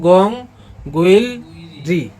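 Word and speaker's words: 궁궐: মানে সংরক্ষিত আছে ও উচ্চারণ হবে গং গুল ঠিক আছে এবার মানে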